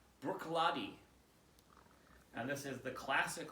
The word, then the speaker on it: Bruichladdich: on the internet and apparently you pronounce this as brooklady and this is the